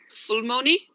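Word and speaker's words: ফুলমণি: Fulmoni, did I say that? Yeah, 100% right. That flower we call full, but when we name someone with flower, that we call Fulmoni.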